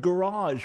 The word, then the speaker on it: garage: language works okay so they see the word garage with two g's in it and you know the first one was a gu and the second one was a ja you learned it you